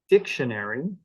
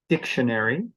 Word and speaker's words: dictionary: be higher in Pitch so if I say the word for example dictionary the first syllable is the one that gets the stress and that syllable is louder dictionary it's actually a little bit longer than an unstressed syllable like shun and it's higher in